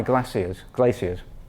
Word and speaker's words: glaciers: Those scratches are caused by glaciers, that's the Australian pronunciation.